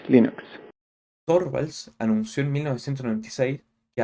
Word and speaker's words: Linux: Hello, this is Linus Torvalds and I pronounce Linux as Linux.